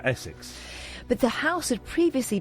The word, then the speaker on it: Osyth: Is that how you say it? Essex, yeah. You say St Essex. Osyth. Yeah, Essex.